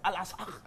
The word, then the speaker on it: Al-Aqsa: Ça c'est en français, sinon en arabe c'est Al-Aqsa.